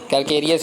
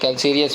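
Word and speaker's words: calcareous: Laterite कैल्सीरियस नहीं है, कैल्केरियस भी बोलते हैं, कैल्सीरियस भी बोलते हैं, तो इसमें आपको प्रोनाउंसिएशन में घबराना नहीं है, ठीक है।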